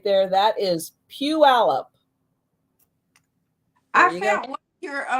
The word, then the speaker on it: Puyallup: So just in case anybody was wondering how you pronounce that right there, that is Puyallup.